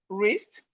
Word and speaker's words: wrist: So we can see simple rule here that whenever you see W and R at the beginning of word, the W is silent.